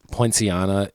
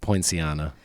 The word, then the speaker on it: Poinciana: Poinciana, his version of that jazz standard is like. Thank you for pronouncing that.